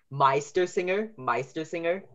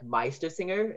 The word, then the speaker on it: Meistersinger: So the I sound, like Meistersinger, is EI.